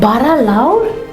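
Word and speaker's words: bara lawr: Called bara laur, which rhymes with maur, which simply means big or great?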